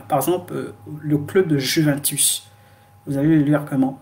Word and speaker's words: Juventus: En italien, on dit Juventus. Juventus. Juventus. Donc, au lieu de le lire ju, on va le lire you. C'est-à-dire, le i est lent. On le prononce i. You, Juventus.